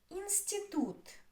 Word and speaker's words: институт: Институт. Институт. Институт. Three. Which is stressed? Институт. The last one is stressed.